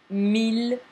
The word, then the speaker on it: mille: And 1000, although you see it with double L, it's not that double L that makes the pronunciation a long E, like in the case of famille or fille or cheville. This is the mille where the L is pronounced, just like in ville, belle.